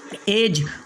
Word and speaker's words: edge: इसके बाद में एज और बजट और गैजेट, यानी इसे हमने बजट पढ़ना है, एज पढ़ना है, गैजेट पढ़ना है।